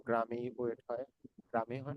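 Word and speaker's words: グラム: গ্রাম। গুরাম, তাই না? গ্রাম, জাপানি উচ্চারণ হবে গুরাম, অথবা কিলোগ্রামকে কি বলে?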